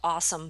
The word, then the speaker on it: AWSM: sport they you know the uh awsm which is called awesome by the way nice uh that's how they pronounce it is uh you know